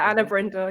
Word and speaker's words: Anna Brindle: Is it Anna Brindle. Yeah. Does it ever get I mispronounced?